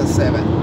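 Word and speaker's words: Severn: Северн. А произносится Seven.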